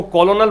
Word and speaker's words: colonel: कर्नल की spelling है ये COLONEL, इसको कॉलोनल पढ़ोगे ज़्यादा बेहतर रहेगा। अमेरिकन इंग्लिश में इसको कॉलोनल ही पढ़ते हैं, ब्रिटिश इंग्लिश में कर्नल पढ़ते हैं, इसलिए हम लोग मोस्टली कंफ्यूज रहते हैं कि इसमें R क्यों नहीं है।